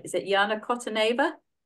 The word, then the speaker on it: Kotaneva: Is it Jana Kotaneva? Kotaneva. Kotaneva. You can pronounce it a lot better.